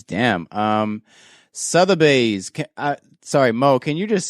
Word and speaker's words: Sotheby's: Sotheby's. Sorry, Mo, can you just say it properly for us? Yeah, it should be Sotheby's.